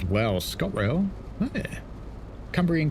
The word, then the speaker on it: Cumbrian: Gav says, "Wow, Scott Rail, Cumbrian Coast, not Cambrian Coast.